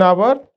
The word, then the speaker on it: hour: Our h is silent.